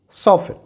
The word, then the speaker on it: soften: This is soften, soften. And this is often, often. When W is silent, जब W silent हो तो यहाँ example देखें।